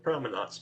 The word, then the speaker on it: Promenuats: It's Promenuats, Mike.